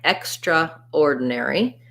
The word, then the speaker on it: extraordinary: I think you may hear people say that sometimes, but what we tend to do, extraordinary, is that we don't say this syllable, and we end up saying it more like extraordinary.